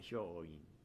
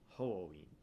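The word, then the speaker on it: 鳳凰院: It's not Hyoin. It's Hoin.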